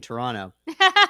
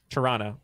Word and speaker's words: Toronto: surprised that you uh didn't say the second t in toronto yeah you pronounced it